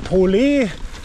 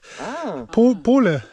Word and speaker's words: Pole: geht sowas von krass und wie wird ausgesprochen wi das ne Po ja ich hab ne Pole ne wie Po genau schon cool Alter das